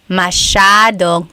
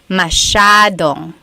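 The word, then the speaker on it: masyadong: Mashadong means a lot. So the s ya is a sha sound. Mashong.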